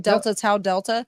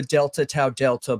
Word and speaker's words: Delta Tau Delta: How do you pronounce that? Delta Tau Delta? Tau, is that how you say it? Delta Tau Delta.